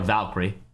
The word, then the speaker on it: Valkyrie: Cree at the end of it. There will be no extra syllable in there for me.